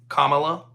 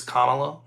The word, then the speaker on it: Kamala: I say it like the old wrestler, Kamala, or Kamala, but it's Kamala.